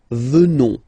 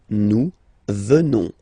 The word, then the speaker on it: venons: Final S not pronounced, so you will get the sound venons. Nous venons. Nous venons.